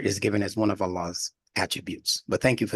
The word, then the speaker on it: Allah: when you say Allah that open a that's in Al so that's one of the ways that the word Allah is being pronounced in the world is just that the Arabs were pronouncing it as Allah with a double beat as they call it in that last vowel or that second vow Allah see Allah and